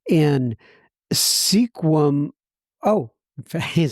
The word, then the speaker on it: Sequim: in Sequim. Oh, it says this is how it's pronounced. Sequim, Washington, pronounce Squim. 2/10/22. I'm assuming that's the sobriety day. Well, Travis L. out there in Squim, Washington, God bless you.